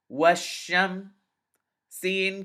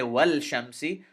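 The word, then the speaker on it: والشمس: Washam. Sin kasrasi. Washamsi. Now notice I didn't say wal shamsi.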